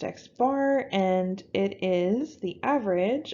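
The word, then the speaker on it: x̄: gonna see this symbol used a lot it's pronounced x-bar and it is the average of all of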